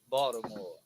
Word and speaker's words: Baltimore: Baltimore. That's how we pronounce it.